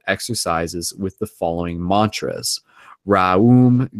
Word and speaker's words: Raom: Raum Gaum. That's R-A-O-M G-A-O-M. Raum Gaum. Each word is divided into 2 syllables. One must accentuate the vowel O.